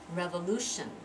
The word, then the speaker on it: revolution: syllable centuries centuries centuries revolution fat tion the TI is pronounced tion revolution revolution how many syllables round full boob tion Wright revolution which one receives stress bubble ooh revolution revolution